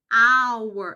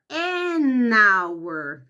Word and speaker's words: hour: Mas quando você pronuncia essa palavra, o som é de vogal, tá ok?